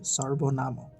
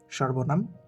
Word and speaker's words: সর্বনাম: সর্বনামের উচ্চারণ হয়ে যাবে সর্বনাম। আমি আবারও বলছি বাংলাতে সর্বনাম ওড়িয়াতে সর্বনাম।